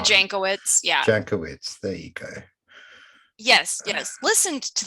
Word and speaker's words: Jankowicz: according to this woman nina djakovic is that how you pronounce it yeah nina jankowicz yeah yes yes listen